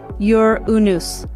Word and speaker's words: Uranus: to offer starting with its unique pronunciation which contrary to popular belief is actually yur unus a small fact that